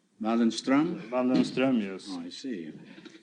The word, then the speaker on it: Waldenström: No, it's an umlaut on the O. In Sweden, you pronounce the name Waldenström. Waldenstrom?